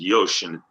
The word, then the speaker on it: yoshi: is a yosh right y-o-s-h-i is how it's spelled but it's pronounced yoshin basically means check right